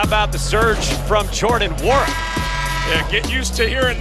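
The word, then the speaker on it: Nwora: Well, how about the surge from Jordan Wara? Yeah, get used to hearing this name all season long. Jersey number 33 with the 3 ball. The end is silent.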